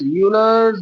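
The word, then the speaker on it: Euler's: इसको ई यू एल ई आर एस यूलर्स number N यू एम बी ई आर एस ठीक है य years ठीक है ई साइलेंट है यू से नाम प्रोनाउंस होएगा तो यूलर्स नंबर है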